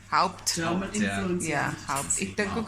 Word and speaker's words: Haupt: Mense sê Haupt, maar vir my is dit met die Haupt.